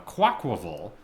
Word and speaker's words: Quaquaval: quaa is that you the middle part is pronounced like Aqua so quav is how